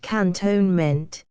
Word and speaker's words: cantonment: ordinary double quick 28 Cantonment in India pronounced cantonement part of a town